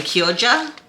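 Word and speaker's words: Chioggia: beet and I have I'm going to pronounce this the Italian way kyoja which is like has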